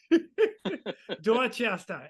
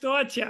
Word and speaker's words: Dorchester: Dorchester. It's Uh Dorchester. huh. Uh-huh. We do not pronounce our R's.